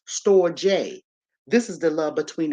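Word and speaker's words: storge: we got the storage s t o r g e is pronounced store J this is the love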